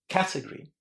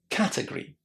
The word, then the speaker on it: category: You always put the stress on the first syllable in category.